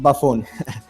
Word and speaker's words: Byfuglien: it was correct ok i pronounce it Byfuglien ok good but sometimes